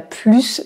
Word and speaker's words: plus: ni par un H donc on doit prononcer c'est le s il a plus d'enfants que moi autre exemple elle travaille